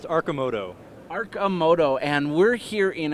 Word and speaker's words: Arcimoto: do you pronounce that it's pronounced aramoto aramoto and we're here